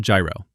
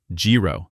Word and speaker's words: gyro: Now let's talk about gyro. And yes, we have to talk about the pronunciation. Outside Greece, people say gyro, gyro, hero, and probably a few other versions. In Greek, it is closer to gyro.